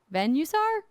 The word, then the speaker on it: Venusaur: Venusaur? Like Venus. Got it. Venus. Yeah, Venus.